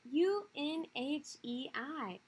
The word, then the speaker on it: Unhei: no um hey corrected it's spelled u-n-h-e-i it's pronounced unhei oh it's you hey